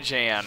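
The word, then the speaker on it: Jann: him hey Soldier I'm Jan Walker I'll fight with everything I've got oh okay is he actually pronounces it Jan okay but anyway uh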